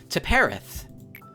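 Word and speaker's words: Tiphereth: Teperith.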